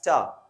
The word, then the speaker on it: to: So the 2-O is pronounced as ta, such as need to. We say need to, and that is pronounced as need ta.